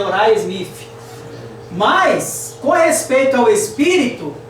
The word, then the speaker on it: Uriah Smith: mais conhecido por nós na expressão aí abrasileirada como Urias Smith, né? Mas a pronúncia em inglês é Uriah Smith.